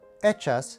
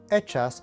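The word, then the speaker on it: hechas: with the letter h echas and echo they both translate into the word made in spanish the letter h is silent therefore you begin your sound in this case with the letter e echas and echo and finally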